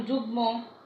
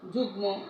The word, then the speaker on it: যুগ্ম: ম ফলা যুক্ত হয়, বর্ণগুলোর সঙ্গে সঙ্গে ম ফলা যুক্ত হলে সেই ম ফলার উচ্চারণ রক্ষিত হয়।